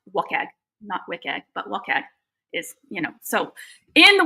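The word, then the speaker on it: WCAG: So when you build something that is accessible um a lot of people look at um web content accessibility guidelines which I I pronounce wagg you know.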